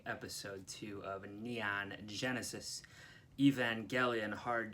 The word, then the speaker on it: Evangelion: fan of the show he told me it's a hard G Evangelion I don't know to trust him or not like I don't know where he's getting that from but that's what he said he also told me